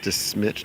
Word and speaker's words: De Smet: We found out today it's pronounced Smet, not Smet, according to a local tour guide.